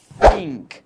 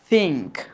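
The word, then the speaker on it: think: খেয়াল করো কে বলছে, দেখো প্রথমেই আমরা বলি থিঙ্ক, বাট এই শব্দগুলো উচ্চারণ করতে যদি তোমার টাং দেখা না যায় তাহলে সেটার সঠিক উচ্চারণ হবে না বলে তোমরা ধরে নিতে পারো। ঠিক আছে, তাহলে দেখো এটা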